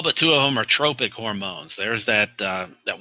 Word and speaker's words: tropic: Now I know when you look at that word you want to pronounce it as tropic. Like that's where we should be in the tropics.